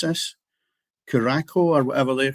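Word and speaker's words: Curaçao: Japan, uh, Cotto and how do you pronounce this? Kuraco or whatever they're called, which is in well done.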